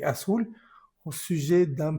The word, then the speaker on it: sujet: Aquí tenemos una ET, como lo vemos aquí también en lo amarillo. Entonces, esto se va a pronunciar E. Sujet, sujet, au sujet d'un problème avec un ordinateur que j'ai acheté.